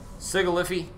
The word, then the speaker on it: Sigilyph: It is Sigilyph. There is no Y in there. It is not pronounced Sigilyphy.